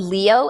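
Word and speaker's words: Lio: It's called Leo, L I O is how it's pronounced.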